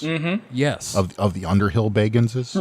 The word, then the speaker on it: Bagans: Of the Underhill Baganses? Right. He actually specifically pronounces his name Bagans because his actual name is Baggins, but he hates when people say that.